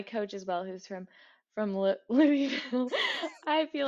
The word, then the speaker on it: Louisville: as well, who's from Louisville. I feel like that's the right way to say it. He said you're supposed to say it like there's something in your mouth.